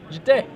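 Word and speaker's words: Jitte: Do you pronounce it, Glenn, Jeet or Jite? Jite.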